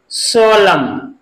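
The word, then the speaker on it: solemn: इसको भी इसमें लास्ट में क्या है, एम एन, तो यहां पर भी एन साइलेंट रहेगा, तो इसको हम कैसे पढ़ेंगे, autumn. Autumn. S ओ एल ई एम एन। सोलम।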